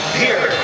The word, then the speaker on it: Pierre: By the way, people say Pierre, South Dakota. Danny, that's Pierre. No, I found out the hard way that the locals say it's Pierre. And when you're in Pierre, South Dakota, you say Pierre, South Dakota, because that's how the people that grew up there say Pierre, South Dakota.